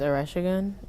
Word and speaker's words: Oresegun: And my last name is Oresegun, and it's spelled Oresegun.